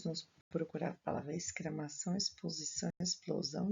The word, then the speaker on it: exposição: A palavra exposição é escrita com X, porém o som é de S.